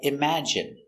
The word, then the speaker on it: imagine: And you have words like imagine, that has the short I sound, imagine.